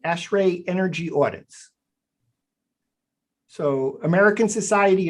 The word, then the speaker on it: ASHRAE: exist and then there's this term uh ashray I'm pronouncing that right ashray energy audits so American